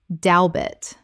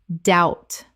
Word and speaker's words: doubt: Word 184 doubt common mispronunciation dowbit correct pronunciation doubt The b is completely silent. It rhymes with out and shout.